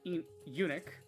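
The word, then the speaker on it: eunuch: the nimble camo lancer, the brutal unic. Okay, I was going to say Enoch, but that's not how you pronounce that.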